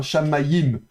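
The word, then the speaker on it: שָׁמַיִם: Donc on va cette fois-ci prononcer le yod. Donc ça fera sh a m ma ji i m. Donc shamim en fait. Bon, je caricature un peu mais en somme c'est ça. Shammaayim.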